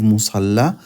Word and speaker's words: مصلى: Fil musalla. This ya has no dots under, so you know it's alif. That's why we pronounce it like alif.